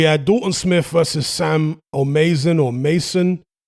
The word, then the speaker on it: O'Maison: dalton smith versus sam or mason or mason the commentators were using different pronunciations throughout the broadcast i'm gonna go with sam or mason so dalton smith from